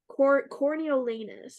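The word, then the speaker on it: Coriolanus: me look at the corneolanus I believe is how you say it c-o-r-i-o-l-a in the US like anus isn't it all right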